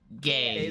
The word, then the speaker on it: Geas: It's spelled Gaze, yep. Geas. Gaze. whatever.